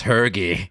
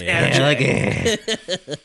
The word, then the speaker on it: Hergé: I thought it was Hergy. No, it's a French name, so it's Hergé.